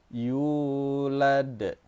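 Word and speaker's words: يُولَد: Cara panjangnya dua harakat, dua harakat itu artinya dua ketukan. Yulad, begitu yu nya. Jangan sampai dipendekkan pula atau jangan sampai berlebihan pula panjangnya. Walam yulad, jangan seperti itu tapi cukup satu alif atau dua harakat saja.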